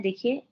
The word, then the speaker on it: du: Ich, देखो, दी को द, यू को ऊ बोलते हैं, द में ऊ मिलाओगे दू, प्रॉपर दू du, बनो।